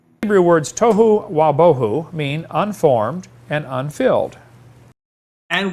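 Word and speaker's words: תֹהוּ וָבֹהוּ: a huge thing right the wow pronunciation of the letter of of is the reconstructed version of what that letter probably represented when the biblical texts were being written it probably was a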